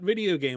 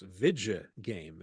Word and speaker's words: Vidja Game: And just the important thing is that we're not Video Game Apocalypse. I'm not misspelling that. It's or mispronouncing that. It's Vidja Game. VIDJA.